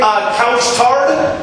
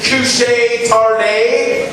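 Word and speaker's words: Couche-Tard: I think you're supposed to pronounce it couche tarde. And I looked it up. It means night owl. But in America, you pronounce it couch tard.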